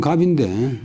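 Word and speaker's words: 合: 공자인 자로는 는 합 본래 발음이면 갑인데 보통 합 합 말이 많 말이 많았지만도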